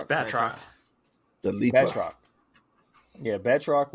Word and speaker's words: Batroc: And, Bartrock, was that how you pronounce his name, Mike? Bartrock? It's Batroc.